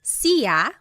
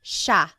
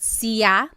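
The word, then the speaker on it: siya: It looks like it should be pronounced sa, but it's actually pronounced sha sha. There are some regions in the Philippines that might pronounce it sa but for the most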